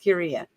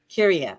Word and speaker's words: Kyria: Did I say it right? Pronounce it for me, please. Kyria. Kyria. Okay. Kyria. Okay, good.